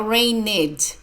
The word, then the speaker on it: rained: rained cats and dogs the Ed sounds like d now rained no ringed rained it